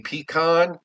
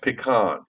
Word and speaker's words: pecan: And for those of you who say pean, okay? Uh or pecan, you pee in a can, okay? You okay? It's pronounced pecan.